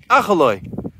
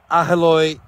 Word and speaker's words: Aheloy: How do you pronounce it? Aheloy.